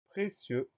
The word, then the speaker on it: précieux: Et à la fin de précieux, on a une lettre muette, le X.